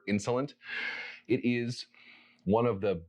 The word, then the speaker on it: Insolent: is vetiver insolent or better better in salon they're an english house so i'm just gonna go with the english pronunciation vetiver insulin it is one of